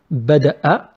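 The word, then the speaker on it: بدأ: Bada'a and bada. See, I pronounced a in the first example. The second example, we don't pronounce it. We make it long.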